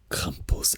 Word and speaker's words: Krampus: Krampus, again, the stronger R sound, right? The like really cold, like French R sound.